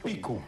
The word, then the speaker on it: Picu: sino también picu verdad porque no tiene acento en la u es pic picu perfecto y el camino